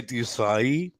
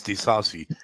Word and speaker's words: Disasi: He said it's like when you say Disai, it's Disasi.